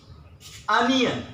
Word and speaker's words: onion: Okay, the correct way to pronounce it, onion.